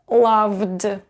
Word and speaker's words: loved: just d so and you will pronounce it as loved loved because v is voiced and so we need